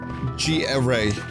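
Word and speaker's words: Garai: G-Array. Oh, I'm mispronouncing Gary, too. It's G-Array. Okay.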